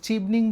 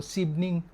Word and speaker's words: Chevening: এসেছি সেটা হচ্ছে এটাকে অনেকে চিভনিং বলে অনেকে শিভনিং বলে যেহেতু সিএইচ দিয়ে শুরু তো সিভনিং প্রবাবলি রাইট প্রোনাউন্সিয়েশন বাট আসলে আমার কাছে